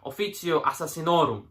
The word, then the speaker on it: Officio Assassinorum: But it's really all about the, as we in the Czech Republic would pronounce it in Latin, Officio Assassinorum. That's how we pronounce Latin in Czech.